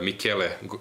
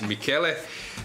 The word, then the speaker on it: Michele: experienced player Italians, like Michele Godena, or how they say sometimes, like now in Vrnjačka Banja, sometimes they are getting a wrong pronunciation, like Michel or Michael, but he's Michele.